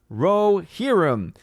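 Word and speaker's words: Rohirrim: about that orange i review says odin it's pronounced rohirum yeah i know and i'm terrible at pronouncing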